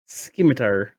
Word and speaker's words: scimitar: Skimitar. Make sure it's a hard C in that word apparently.